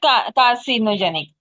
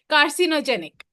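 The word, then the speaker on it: carcinogenic: I don't know what pronunciation will बीनोजे सी के साथ सी के साथ जब आई आता है तो सी की प्रोनाउंसिएशन स हो जाती है ओ thank you I learn something today कार्सिनोजेनिक world everything is either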